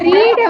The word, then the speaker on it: read: இந்த ரீட வந்து பாஸ்ட் டென்ஸ்ல எப்படி தெரியுமா சொல்லணும்? புதுசா ஒன்னே ஒன்னு சொல்லி தரேன். ரீட் அப்படின்றத பாஸ்ட் டென்ஸ்ல எப்படி தெரியுமா உச்சரிக்கணும்? ரெட்னு உச்சரிக்கணும். ஆனா ஸ்பெல்லிங்லாம் மாறாது, READ தான் இருக்கும்.